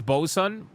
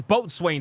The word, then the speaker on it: boatswain: Hypno, it's Bosun. Wait, Bosun? Who's Bo? You pronounce this as Bosun? This shit is Boatswain to me, brother.